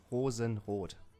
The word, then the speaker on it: Rosenrot: versus the good old Rosenroad. He's still in the tournament. I'm proud of him. Making it work. How do you pronounce that name? Rosenroad? I mean, if I go full German, it's Rosenrot.